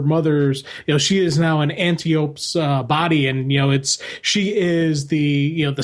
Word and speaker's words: Antiope: I actually, thinking about it, I would guess the I is pronounced with an E. Right. So Antiope. Right. Like I was saying, that's what I've thought too. Especially with how Hippolyta is pronounced.